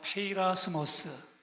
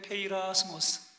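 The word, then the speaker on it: πειρασμός: 페이라스모스. 발음 좋으세요. 다 함께 크게 페이라스모스.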